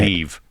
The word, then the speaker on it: Niamh: Well, how do you say Neve.